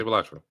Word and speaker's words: Balatro: They say Balatro. Cilantro, Balatro, the same difference.